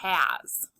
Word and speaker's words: has: Excuse me, just like in the word his, or is, or as, sometimes S at the end of a word says Z. This is the word has.